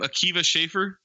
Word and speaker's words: Akiva Schaffer: Akiva Schaffer?